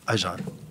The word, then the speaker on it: Ajarn: Now, I usually F this up because I don't know why, but is it Ajan? Ajan. Ajan. He lives in Thailand, so he's got it perfect. Ajan. Am I saying it right? Yeah, absolutely. Okay.